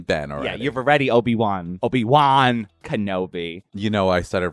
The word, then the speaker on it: Obi-Wan: But no, Obi-Wan. Woon, like maybe Woon, like Woon. I don't know. Like I don't know how I would spell it, but how was it? It's W-A-N, Wan.